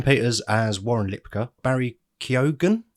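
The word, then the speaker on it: Keoghan: as Warren Lipa Barry kogen kogen Yeah question mark no that's well I looked it up that is apparently the correct way to pronounce it well we'll go with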